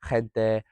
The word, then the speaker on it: gente: Obviously in Spain, they pronunciate the G and the H sounding words with like a ch. So for example, gente or joven, those kind of words they pronounce with that sort of scrapey thing at the back of the throat. I don't really know how to describe it, but it's a bit harsher sounding.